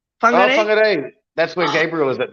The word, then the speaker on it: Whangarei: Oh, from Whangarei? Is that did I say it right? Whangarei? Oh, Whangarei.